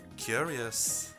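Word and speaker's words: Qyurrius: Og sangen heter, jeg tror det mener at du skal uttale som Curious. Ja. Men det skrives Curious. Men det skrives som Q-Y-U-R-R-I-U-S. Curious.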